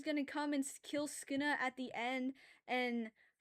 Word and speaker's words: Sukuna: You literally just ignore the first U and say Skina. It is not that hard. Doesn't have an R in it. Nothing. You just forget the first U.